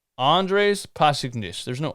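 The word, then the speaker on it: Pasečņiks: Andres Pasechniks. Andres Pasechniks. Andres Pasechniks.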